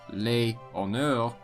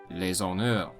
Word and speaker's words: les honneurs: Because the H is often not pronounced in French, it is considered a vowel. Thus, instead of les honneurs, it is les honneurs.